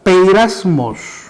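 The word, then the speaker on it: πειρασμός: En el original, la palabra original es un término que se pronuncia o se dice de esta manera: peirasmos.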